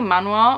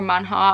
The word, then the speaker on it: manhwa: It's actually a manhwa or manhwa, I can never remember which of the two is the correct pronunciation, which is basically a Korean comic book, and I just love it so much.